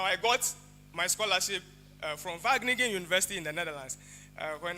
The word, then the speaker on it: Wageningen: And then I said, Wageningen, because that is how you actually spell it. It's W-A. And then he laughed and said, it's Wageningen.